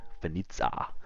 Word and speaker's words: Vanitza: Carl, tell me, how do I pronounce that name? Is it Vanizza or is it more exotic? Vanitza. Benitza is the correct. Yeah, you got it right the first time, mate.